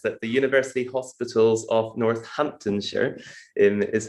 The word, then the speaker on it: Northamptonshire: in the nhs that the university hospitals of northamptonshire is how we pronounce it and i had a presentation which